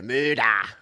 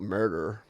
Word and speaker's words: murder: say g'day um yeah muda that's how we say it not murder we don't we don't pronounce r's except when we do car car car we don't we don't pronounce any any r's uh there you go